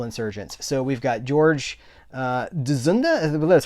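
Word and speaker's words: Dzundza: So we've got George Dzunda, that's how you pronounce his name, Jason Patric, Lost Boys, Stephen Bauer, and Stephen Baldwin.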